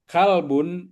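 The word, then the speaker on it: كلب: Ini Oh, pakai kalau pakai kof itu artinya hati. Tapi kalau pakai kaf kalbun itu anjing artinya jangan salah ya.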